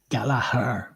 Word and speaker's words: Gallagher: Before you how does it Americans are not sure how to pronounce if it's no Gallalagha or Galaga? Galahar. Well, I say Galahar. It all depends whether you're from England, Ireland, North England, South England, North Ireland, South Ireland.